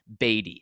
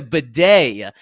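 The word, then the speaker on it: Badie: video last year saying his last name is pronounced batty it's it's uh b a d i e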